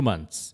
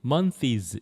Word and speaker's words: months: 잘 썼는데 spring just last less than 2 months 이렇게 돼 있는데 이때 그 las 다음에 s를 붙여야 돼요. 왜냐면 스프링이 3인칭 단수고 현재형 현재형이기 때문에 s를 꼭 붙여야 되고요.이 먼스라고 하는 발음을 아직도 일부 학생들이 mones 이렇게 하는 사람이 등장했습니다.